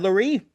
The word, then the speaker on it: Loree: It's pronounced like the word calorie or cutlery. Loree, Ah, Loree. Yeah, it's a francophone version of the Irish name Lowry.